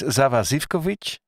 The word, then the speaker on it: Sava Zivkovic: from belgrade awesome guy uh his name is zava zivkovic and uh zava you're on hello hello how